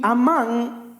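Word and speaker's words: אמן: la fidelidad de Dios es la palabra amán Sería más o menos como se pronuncia en español y amán Oiga bien transmite la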